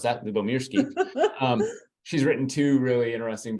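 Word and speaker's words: Lyubomirsky: I had to look that up, how to pronounce that, Lubomirsky.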